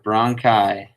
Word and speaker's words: bronchi: into these two tubes one of them is a bronchus two of them are bronchi that is just how you say it plurally okay bronchi those two